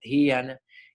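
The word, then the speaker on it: ध्यान: los sentidos, dharana, concentración, dhyana, meditación, se dice dhyana, y samadhi, la pronunciación, ahí dice supraconciencia, ¿verdad?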